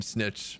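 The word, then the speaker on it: Snikch: Pronounce his name Snitch, so why there's a K in there. Snitch. I assume it has something to do with like the Skaven accent.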